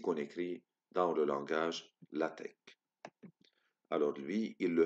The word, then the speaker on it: LaTeX: elle atteint x mais on doit se prononcer la tech le langage la tête